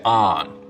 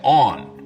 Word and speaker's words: on: the on line now north of this line most people say on rhymes with Don south of it they say on rhymes with Dawn of